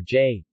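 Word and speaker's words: 这: The demonstrative pronouns are jay, jay, this, colloquially pronounced zay, and na, that, colloquially pronounced nay.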